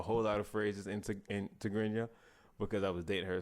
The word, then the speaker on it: Tigrinya: How do you pronounce it? Tigrinya.